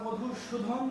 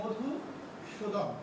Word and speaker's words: মধুসূদন: অনেকেই আমরা মধুসূদন বলে ফেলি ভুল করে, খুব খেয়াল করতে হবে, অ্যাকচুয়ালি মধুসূদন।